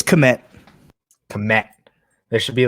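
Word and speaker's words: Kmet: Is that Komet or is it just Met? I don't know how to pronounce his last name. It's Komet.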